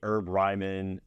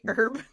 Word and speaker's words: Herb Ryman: I'm heading to the herb Ryman uh you say herb yeah I'm I'm British so we pronounce the h they call it the